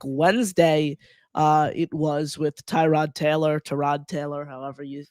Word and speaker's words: Tyrod: I think Wednesday uh it was with Tyrod Taylor. Terrod Taylor, however you you say. Terrod is how it is pronounced according to Baker Mayfield.